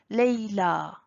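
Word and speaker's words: ليلى: Il y a le alif maqsoura à la fin, donc on prononce A. Moussa, Isa, Leila, Lubna.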